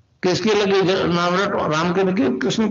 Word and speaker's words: क्लीं: एक शब्द क्लींग शब्द, क्या आधा लय में मिला हुआ, बड़ी की मात्रा और बिंदी, उसका उच्चारण होगा क्लींग। गा की ध्वनि निकलेगी पीछे।